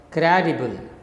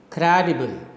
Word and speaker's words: credible: So the first cry is stressed when you are speaking this word. Cry is stressed, D and bull are unstressed. So how do you speak it?